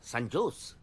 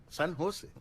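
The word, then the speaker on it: San Jose: ও বাবা, সান জোস? সান হোসে। সান হোসে, হ্যাঁ সান হোসে। জের উচ্চারণটা এইচ এর মতো হবে, সান হোসে।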